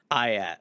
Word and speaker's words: IATT: try ream was something so we go back we go by ayat now ayat okay cool that's good